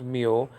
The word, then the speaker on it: Mu: deal so this is the m in Greek Mo sometimes pronounced meal but in modern Greek the name has changed